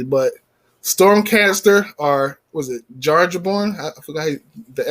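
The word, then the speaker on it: Jarnbjorn: I don't know how to pronounce it properly, but Stormcaster or was it Jarjaborn? I forgot the X Jarjaborn. Yeah, I can never say that. The J is Y. Yarnborn.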